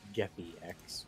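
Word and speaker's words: Geppy-X: And I also thought you said Get the X from the way you pronounced it, but it's Geppi X.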